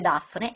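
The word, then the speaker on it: DAΦNE: acceleratore di particelle circolare si legge Dafne ed Des scritto con la lettera greca Fi che si legge come una f e che al tempo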